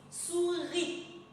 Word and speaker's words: souris: Mais le mot souris, il y a un se à la fin.